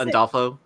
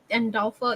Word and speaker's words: Andolfo: I can't pronounce. Andolfo. Andolfo, yeah.